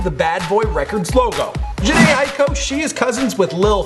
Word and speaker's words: Jhené Aiko: You guys know I'm working on a pronunciation, so that one there, well, I had to look it up. Jhené Aiko. Jhené Aiko.